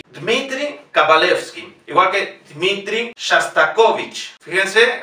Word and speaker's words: Shostakovich: Fíjense, aquí tenemos tres O's, de las cuales solamente una puede tener el acento, que es la tercera. Es una palabra llana, por lo tanto, las otras dos O's la pronunciamos como A.